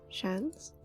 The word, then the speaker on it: Shans: Shans? No, that's a football nickname. I don't have a chance. The pronunciation of Shans is the same as Shans, like chance, but with an SH at the start.